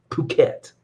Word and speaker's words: Phuket: It's called Phuket. Phuket. Phuket. You know, not Italian.